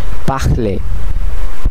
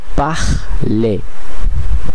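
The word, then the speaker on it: parler: যদিও লেখা হয় কিন্তু সাইলেন্ট থাকে। যেমন এখানে একটি উদাহরণ আমরা দেখতে পাচ্ছি। পাখলে পাখলে পাখলে যার অর্থ কথা বলা।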